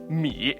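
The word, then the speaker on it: 米: Let me teach you how rice is pronounced in Mandarin. Mi. In Cantonese, it's mai.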